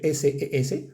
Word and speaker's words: ses: Y se, que se escribe S-E-S, ses.